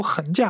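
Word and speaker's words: 桁架: 的行啊，其实它不是个多音字啊，它正确读法就是读横架，但是我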